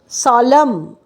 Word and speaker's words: solemn: SOLEMN, এনটা হচ্ছে সলম, এনের কোনো প্রোনাউন্সিয়েশন নেই।